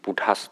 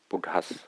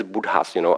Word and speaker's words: Buddha: Do you understand Buddha's teaching? He didn't understand this Buddha's, but because American pronunciation, I think, is Buddha, something like that. And I pronounce it as it is standard in Sri Lanka, Buddha.